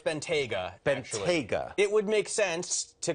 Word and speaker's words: Bentayga: this uh Matt go ahead how do I pronounce it okay so it's Benta BGA it would make sense to call it the